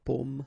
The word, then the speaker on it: pomme: Okay, so you can see that I pronounce them a little bit, a little bit differently, but then well, be careful that in many cases people will pronounce them the same way, okay, because in that case normally it should be a bit lower, pomme, and then here more open, so pomme, okay.